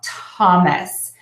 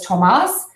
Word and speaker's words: Thomas: with a th so we're only going to pronounce that th as a t sound Thomas many clients um from different countries pronounce this as Tomas which that is kind